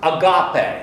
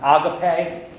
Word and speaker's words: agape: How many of you have heard the word agape, or you might hear it pronounced agape?